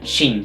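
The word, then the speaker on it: Qin: China é preveniente da dinastia Kim que se pronuncia sim que governou o país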